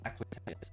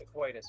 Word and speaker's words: Aquitus: like Aquitatus. Nice. Glad to have you, man. yeah. Heyo. It's pronounced Aquitus, by the way.